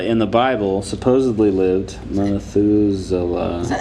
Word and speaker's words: Methuselah: So, Methuselah in the Bible supposedly lived Methuselah. Is that how you pronounce it?